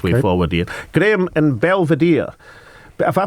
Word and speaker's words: Belvedere: Graham in Belvedere. Have I pronounced that right, Graham? Belvedere.